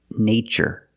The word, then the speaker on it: nature: In the first word, we use the long A, like day and say. Nay, nature.